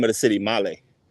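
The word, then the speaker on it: Malé: name of the city Malay it's spelled male m a l e but there's that little thing above the E that changes it from E to e so it's Mal let's go up one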